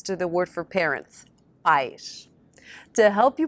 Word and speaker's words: pais: the word for parents, pais. To help you pronounce these, remember that pais is one syllable and that the AI sound sounds just like the letter I in English.